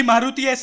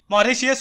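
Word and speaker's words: Mauritius: भाई मारुति एस नहीं, मॉरिशियस होता है वो। साला स्पेलिंग में तो टी लिखा है, फिर मारुशियस कहाँ से हुआ बे?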